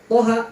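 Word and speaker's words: طه: Toha 2 harokat berarti. Di sini kan to sama ha. Toha berarti dia mad tabi'i harfi.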